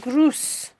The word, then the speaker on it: Gruß: it's pronounced Gruß.